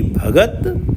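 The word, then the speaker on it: ਭਗਤਿ: भंडार अनगिनत हैं तेरी भगत तेरी भगत भगत से अर्थ है यहां भगत त पे छोटी ई की मात्रा है और आखिरी अक्षर पर छोटी ई की मात्रा का उच्चारण नहीं होता है श्री गुरु ग्रंथ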